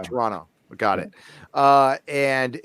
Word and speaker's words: Toronto: You just don't pronounce the last T. Toronto. Toronto.